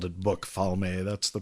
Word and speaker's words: Falme: I called it book Falme. That's the pronunciation.